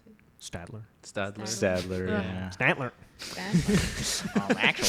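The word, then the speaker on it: Staedtler: you pronounce it yeah schadler how do you pronounce it Stadler Stadler Stadler Statler actually Statler my it's broken eringer is served um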